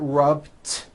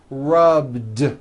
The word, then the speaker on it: rubbed: yesterday I rubbed ooh all I did was was add a voiced D sound at the end rub it's not rubbed with an unvoiced T it's rubbed like that here's another example clean